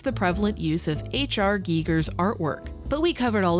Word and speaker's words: Giger: The one cohesive thing that ties these two games together is the prevalent use of HR Giger's artwork, but we covered all of that in the previous video.